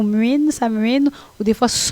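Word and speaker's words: Samhain: trop facile à prononcer ça s'écrit sa main mais ça se prononce à main ou mine sa mine ou des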